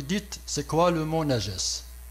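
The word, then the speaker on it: نجس: Mais c'est juste pour signaler ce mot-là, najas. Parce que ce mot najas... Le voici, ça se prononce Najas, N-A-J-A-S, et ça a été traduit par impureté.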